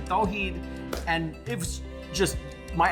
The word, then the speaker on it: Tawheed: I went by my middle name, Tweed, and you don't even pronounce it as Tweed, and no one else could pronounce it. It's actually Tawheed, and it was just, my identity was all messed.